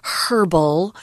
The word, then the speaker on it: herbal: of that and also there is a different pronunciation for this word herbal if you're talking to people perhaps with a British accent they like to say herbal or herbs with the aged sound but most of us